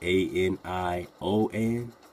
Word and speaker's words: Anian: Whether you spell it A-N-I-O-N or A-N-I-A-N, same thing, Anion, right?